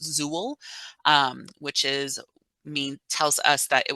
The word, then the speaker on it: XUL: The older ones will say XUL or it's pronounced Zool, which tells us that it was created when we used the desktop application for Evergreen Indiana.